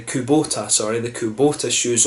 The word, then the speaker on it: Kubota: this one so this one was the the Kabuto I am if I pronounced that correctly Kubota sorry the coup Botha shoes or from Hiroshima